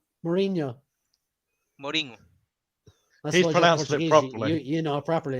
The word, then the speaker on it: Mourinho: the meme by the way with um the Morino have you seen this no look I I